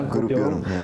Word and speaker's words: Grup Yorum: Ja, als erstes euer Bandname, habe ich ihn überhaupt richtig ausgesprochen? Ja, Grup Yorum.